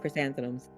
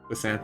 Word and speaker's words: chrysanthemums: How do you pronounce that? Chrysanthemums. Chrysanthems.